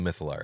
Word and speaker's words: mythallar: So now The mythallar era. we are entering the mythallar era.